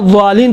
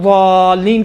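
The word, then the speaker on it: الضالين: اگر آپ ولا ضالین کہیں گے، آپ دقت سے آپ انشاءاللہ تعالی تجوید کے قوانین میں جا کے دیکھیں، زین اور ضاد میں اشتباہ ہوتا ہے. اس زین اور ضاد کا اشتباہ سے بچنے کے لیے قرآن نے آ کے اس کا تلفظ دال جیسا کیا ہے. دال جیسا ہے، دال نہیں ہے. دیکھیں ولا ضالین دال ہے، اما ولا ضالین دال جیسا لگتا ہے، دال نہیں ہے.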